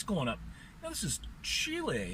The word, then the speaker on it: Chile: But at any rate, he goes to Chile, as they like to pronounce it properly, and buys an old VW.